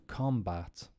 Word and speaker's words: combat: If it's a verb, the stress goes on the second syllable. So let's do the verb. To conduct, to attribute, to combat.